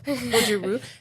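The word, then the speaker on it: Goju-ryu: this wrong, but you're a black belt in Goju Rayu. Oh, we did some deep digging for that. Yeah. Gojiruj Gojiru.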